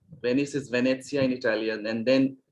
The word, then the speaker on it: Venezia: or to use the uh no the italian pronunciation of rome that is roma or venezia venice is venezia in italian and then milano which is in